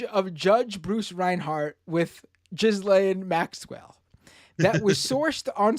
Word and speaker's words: Ghislaine: I was being silly when I said Ghislaine. The correct pronunciation in French, I believe, would be Ghislaine. That would be how you pronounce it.